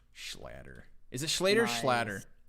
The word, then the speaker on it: Schlatter: Is it Schlatter or Schlatter? It's like Schlatter, like splattered, right?